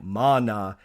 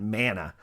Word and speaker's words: mana: And yes, the spiritual power I spoke of last episode is pronounced more like mana and not mana, like I said last time.